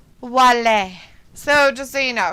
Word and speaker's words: Wale: Luna says, so his name is not pronounced like whale? No, it's pronounced like Wally, like the Disney cartoon or Pixar cartoon. Some people might call him Moby Dick. I don't know. You know. But he's going by the French pronunciation, which is Wale.